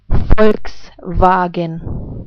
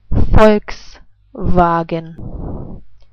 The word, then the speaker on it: Volkswagen: Volkswagen. I say it again. Volkswagen.